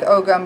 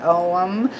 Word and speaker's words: Ogham: ohm or the ogum it looks like ogum but it's pronounced ohm but I always end up saying Ogham because you just I